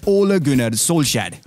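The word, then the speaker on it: Ole Gunnar Solskjær: k in danish or the manchester united manager who's called ollie please it's easier oh laguna soul shad good night now if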